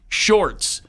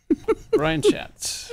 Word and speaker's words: Schatz: Shorts. No, his name is not Senator Shorts. Brian Schatz.